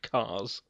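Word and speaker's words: Kars: called, wait for it, Cars. Let us sink that in for a second. It's spelled with a K. But he's still called Cars.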